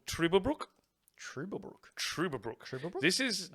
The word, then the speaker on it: Trüberbrook: It is called Trüberbrook. Trublebrook. Trüberbrook. This is Oh, this is yeah, like you pronouncing them umlauts, bruh. Good work. Trüberbrook.